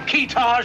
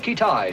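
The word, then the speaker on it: Kitaj: Have we located this fellow Keetage yet? Pronounced Ketai, sir.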